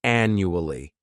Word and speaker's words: annually: This word has 4 syllables, and the stress is on that first syllable. The second syllable, it's like you're just saying that letter U, and the third syllable has that schwa, annually.